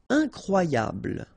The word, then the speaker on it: incroyable: Incroyable. Okay, same thing here for the final E. Don't pronounce it.